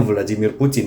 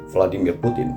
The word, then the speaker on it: Vladimir Putin: ngebahas tentang Vladimir Putin bacanya Vladimir Putin ya bukan Vladimir Putin Rusia dikit gitu loh Rusia nah oke